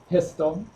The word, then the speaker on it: PSTL: Professional Service tools Library pstl pronounced pistol um some important prerequisites